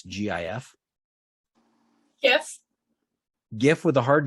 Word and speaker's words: GIF: It's like gift, but you took the T off, right? It's like a little tiny present for you. Here's a little video. It's a tiny present. It's a GIF.